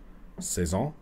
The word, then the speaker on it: saison: Saison. Let's listen to the Frenchman on YouTube try to pronounce it. How to pronounce saison? Saison.